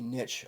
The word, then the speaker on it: niche: and i know that a lot of times people will pronounce that niche which is fine but in ecology we typically pronounce it the other way is niche a niche is like